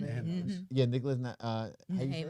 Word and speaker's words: Nehamas: Nehemas.